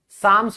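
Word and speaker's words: psalms: साम्स भी बोलते हैं।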